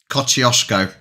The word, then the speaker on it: Kosciuszko: The Aussies say it wrong. I'm taking it. Kosciuszko. I'm taking it. I'm running with it. Mate, Garth, I've said it right. You guys, all you Aussies are saying it wrong.